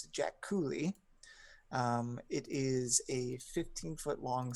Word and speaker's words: Jaculi: It is I am even saying the name wrong. It's the Jack Cooley.